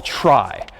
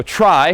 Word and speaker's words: trie: So, here's one last data structure that we'll call a try. So, try short for retrieval somehow. T R I E, but pronounced try.